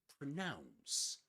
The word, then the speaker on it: pronounce: But pronounce has only one accented syllable. Nouns, pronounce. And pronounce rhymes with the nouns, right?